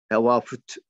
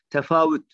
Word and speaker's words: tefavüt: Ben bazen konuşurken de, özellikle telaffuzda konuşurken, bu F ve V'yi karıştırabiliyorum. Beni hoş görün lütfen. Evet. F telaffuzunun V telaffuzuna çok yakın oluşu böyle bir iltibasa sebebiyet veriyor. Bazen tevafüt diyebiliyorum. Hoş görün. Tefavüt.